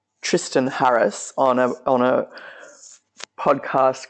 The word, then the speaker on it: Tristan: Waking Up with Sam Harris is the podcast, and the former Google ethicist was a guy called Tristan, or he pronounces it Tristan Harris.